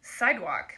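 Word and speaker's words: Cydwoq: to do on it they're called sidewalk but it's spelled c-y-d-w-o-q huh they're made in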